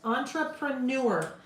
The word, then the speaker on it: entrepreneur: Entrepreneur. Again, it's that getting that R in there, like February. We tend to want to drop that second R. Entrepreneur. Entrepreneur. We just gotta sound it out phonetically, right?